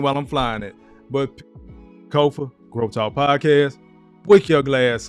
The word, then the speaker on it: Kofa: As always, I am your host, Kofa, K-O-F-A, not, not, not Kofi, or any variation thereof. Kofa rhymes with sofa.